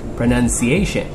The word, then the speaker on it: pronunciation: First word is pronunciation. Nope, it's pronunciation. Follow me. Pronunciation. One more time. Pronunciation. Perfect.